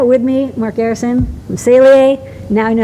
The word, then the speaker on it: Saleae: it's really aida with me mark garrison from celie now you know how to pronounce it thank you for watching this video